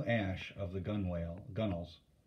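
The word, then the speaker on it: gunwale: of the gun whale gunnels remember that word g-u-n-w-a-l-s w-a-l-e-s excuse me pronounced gunnel ash is a type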